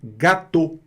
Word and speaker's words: gâteau: Olha aí também a pronúncia gâteau. Não tem mistério, não tem gâteau, gâteau, gâteau. Não. O fato do A estar com acento circunflexo não quer dizer nada.